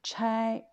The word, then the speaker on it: 差: Troisième prononciation, quatrième don, c'est premier don, c'est chai. Chai, on dit 出差.